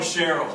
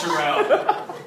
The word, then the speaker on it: Sherelle: people call her Cheryl, but it's Sherelle. Spelled like Cheryl.